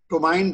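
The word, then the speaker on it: ptomaine: Food poisoning botulinum बॉटुलिनिज्म जिसको हम टोमाइन भी बोलते हैं, पी साइलेंट रहता है।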